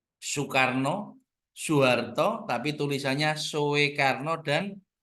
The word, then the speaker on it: Soekarno: juga berubah kalau dulu itu tulisannya Soe itu dibaca u Soekarno soharto tapi tulisannya sekarno